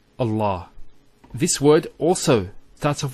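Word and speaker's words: الله: So by Allah, I swear by Allah. Once again, for example, if Allah was the first word in the sentence, we would say Allah with the Hamza being pronounced.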